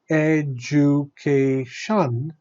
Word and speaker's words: education: In education, education, there are also four syllables, and we are stressing the syllable before the suffix shun.